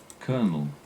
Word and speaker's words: colonel: the military rank ready colonel colonel as in the same way that you'd say a popcorn kernel pop popcorn sweet sweet